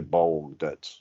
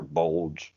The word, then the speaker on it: Bolg: It's really Bold or Bulge, however you say his name. It's Bulge.